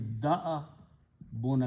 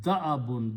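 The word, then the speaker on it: دأب: Again, do not pronounce dab because this is a Hamza. So the word is da'abun. This alif is sitting like a chair. So the tajweed should be da'abun. Da'abun, not da'bun.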